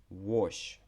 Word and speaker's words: wash: Wash. Да, тут хоч і літера часто читається в словах як А, але wash. Да, більш така О.